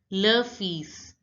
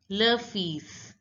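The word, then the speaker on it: le fils: again La Mer again La Mer San is pronounced as love fees lafiz love fees now see the ILS sound in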